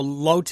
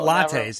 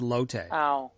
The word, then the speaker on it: Lotte: a mall for lattes no lotte it's l-o-t-t-e not latin not lattes it's low-tech according to reuters the